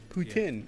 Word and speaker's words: poutine: Although some people would say I'm saying it wrong. Putin. No, I hate that. I'm not French.